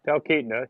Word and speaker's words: Talkeetna: And then I've heard about the town of Talkeetna. Am I pronouncing that correctly? Talkeetna, yeah.